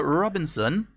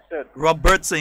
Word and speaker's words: Robertson: Let us say a special good morning to Miss Philomena Robinson. I'm saying it correctly? Robertson. You see, that's the thing. I wanted to make sure. Miss Philomena Robertson. Yes, that's it.